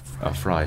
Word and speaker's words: Frey: Fry, sorry. They called it Fry, but it's spelled Frey.